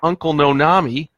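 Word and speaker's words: Uncle Noname: started this company called uncle nanami cookie cumple and and as he that's how he pronounced it but as you can read it it's uncle no name hence he lost the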